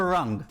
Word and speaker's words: rng: i mean it's a it's a rung it's spelled rng you can see you've removed the identity you take it out and you just get wrong kind of like wrong but wrong so this is a rung but not a ring